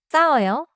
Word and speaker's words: 쌌어요: English pack 발음도 조심해요. 싸워요. start stronger because it has 쌍시옷.